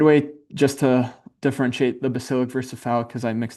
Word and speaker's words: basilic: Um but a good way just to differentiate the basilic versus foul because I mix those up all the time. Basilic sounds like bass. Bass rhymes with face.